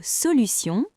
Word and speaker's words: solution: Dans le mot solution, T se prononce S.